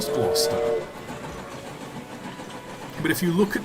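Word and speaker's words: Gloucester: like gloss glister like glister no it's gler it's just a weird spelling and there's so many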